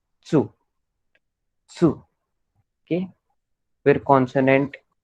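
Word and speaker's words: つ: Okay, सो फिर अभी 1 minute, this, इसको हम लोग टू प्रोनाउंस नहीं करेंगे, sorry, will not pronounce it as tu, but will pronounce it as su.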